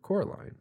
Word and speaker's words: Coraline: also that was the first time W actually pronounced her name properly and called her Coraline so nice nice little wrap up on that